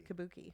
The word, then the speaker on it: Kabuki: Kabuki.